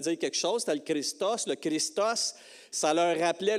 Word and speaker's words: Christos: Si vous voulez le prononcer comme un vrai grec, c'est Christos.